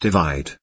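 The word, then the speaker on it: ÷: romantic ballad perfect from his most recent album pronounced divide the song was released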